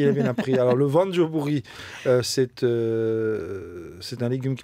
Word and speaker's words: voanjobory: sûr c'est pas au bout une bonne joubouri prononcer non ses ventes joubouri je répète c'est bien prononcé je dis ça